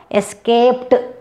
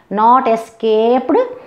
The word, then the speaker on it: escaped: For example, escape, you see, pa sound here. Escape. So, escaped, not escaped, escaped. Okay, escaped, T sound. Okay, T sound.